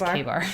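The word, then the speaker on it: KA-BAR: It's pronounced, or it's spelled K-A-bar. Okay, So I wouldn't have known that. I would have called it K-bar. Yeah, but it's K-bar.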